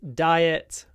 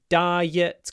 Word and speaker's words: diet: sound diet Qui Riot just remember that there is a y in all these words I I di quiet riet diet quiet Riot I'm on a diet we also often talk about a healthy diet I want to have a healthy diet but you can also she has an unhealthy diet diet diet don't forget the Y it's the most important sound next tourism another cognate